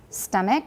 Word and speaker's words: stomach: Stomach, right? Remember not to aspirate the T.